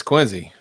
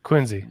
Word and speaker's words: Quincy: Quinn see Massachusetts which as Sean says is pronounced Quincy is that correct it is it's Quincy okay Quincy all right I live I live like a